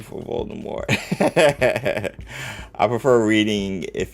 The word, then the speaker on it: Voldemort: I was so annoyed the pronunciation is Voldemort in the movies. Yeah. Yeah. Bula Mort is French for fly from death. The pronunciation is French.